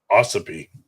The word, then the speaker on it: Ossipee: But the next week, it's pronounced Ossipee. Ossipee, is that it? All right, thank you. Sorry, I remembered that. Asked John Brown. I remember the accent was on the O as opposed to the P.